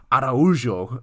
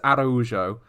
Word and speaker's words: Araujo: pronounce her name and we went an entire pod calling her araujo oh no is that no actually hold on we got it the wrong way around it is arojo and we've been pronouncing which is uh very much not correct so uh well look